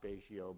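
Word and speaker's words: Betio: It doesn't look like it's pronounced Baishio, but that's the way you pronounce it.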